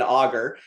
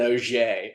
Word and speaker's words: Auger: and and let pe people call him Brian Augger But I always give him a hard time because uh I I take pride that I'm an OA.